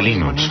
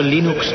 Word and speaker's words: Linux: Bueno, yo Linux lo pronuncio Linux. Sin embargo, si fuese Linus Torvalds, no hay duda de que lo pronunciaría Linux.